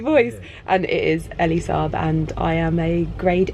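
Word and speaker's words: Elie Saab: And it is Elise Saab, and I am a grade A numpty, basically.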